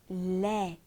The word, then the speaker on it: laid: Laid, être moche. Attention, on ne prononce pas le D.